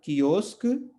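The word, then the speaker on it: quiosque: इसको हमें कुए नहीं पढ़ना है, या इसको हमें कुई नहीं पढ़ना है। ये क्या है? की, और ये क्या है? क। ठीक है, तो क से बना कियोस्क, क से बना कियोस्क, कियोस्क।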